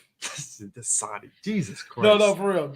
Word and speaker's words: Dasani: my one weakness, No, Freddie has an emergency bottle of Dasani.